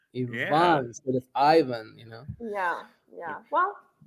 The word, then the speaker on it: Ivan: Ivan Ivan so the so it's e instead of I and the stress goes on the a so it's Ivan Ivan you know yeah yeah